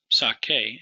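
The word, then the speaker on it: saque: Sake is how that first singular would be pronounced. And that QU is going to be present in the whole conjugation.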